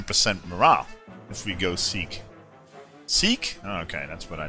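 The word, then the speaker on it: Sikh: mean another 10 percent morale if we go seek seek okay that's what I thought seek death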